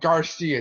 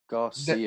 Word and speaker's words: GXRCIA: Definitely check out Garcia too. Garcia. Okay. And it's spelled a pretty odd way though. GXRCIA.